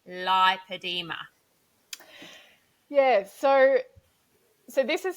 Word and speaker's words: lipoedema: but we feel that the pronunciation needs to be lipedema in Australia because if you say lipidemia it's too similar to lymphadema but it's also too